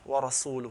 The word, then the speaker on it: وَرَسُولُهُ: polytheist, and so does the messenger, وَرَسُولُهُ, with the dhamma. But the man who was reciting did not say with the dhamma, he said with the kasra, أَنَّ اللَّهَ بَرِيءٌ مِّنَ الْمُشْرِكِينَ وَرَسُولِهِ, which means Allah disassociates